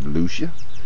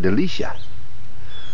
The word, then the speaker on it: Delucia: I believe it's pronounced Delucia. Might be Mike Delucia.